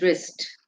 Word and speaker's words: wrist: one is wrist okay wrist has got a silent W so please do not miss out W before R many of you are typing r i s it's not r i s it's w r i s moving on the next